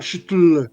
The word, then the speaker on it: Cthulhu: Moi je dis toulou mais Lovecraft a écrit dans une lettre que c'était c'est plutôt un shutle. C'est comme ça qu'on devrait le prononcer.